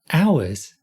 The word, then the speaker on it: hours: sound is U and there's also ours that's not an H sound at the beginning ah ours let's practice connecting the